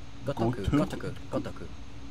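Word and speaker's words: Ryu Ga Gotoku: better than it R what is it of gotoku gotoku okay um Sho in Japan um I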